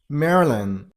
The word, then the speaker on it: Maryland: next number 19 man here is only one syllable so Man, that's it. Next number 20. Marilyn sters on the first level.